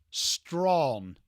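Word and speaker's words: Strachan: Straen is it straan guy? Strawn. Strawn.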